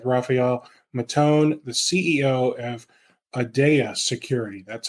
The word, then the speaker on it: Aadya: episode today with rafhael matone the CEO of adaa security that's how he pronounces the company and if you are interested